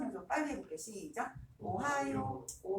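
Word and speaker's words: おはよう: 오하요 할 때 이라는 입 모양으로 살짝 갔다 오거든요. 그래서 이거 진짜 오바 아닌데요. 정말 한영이고 대원해봐 아이들이 이 쉬운 거 단순 암기인데 오하이오라고 쓰고 틀려요. 이 발음 없어요. 몇 박자라고? 네 박자입니다. 자, 한 번 더 읽어볼게요. 오하요 이렇게 해야 돼요.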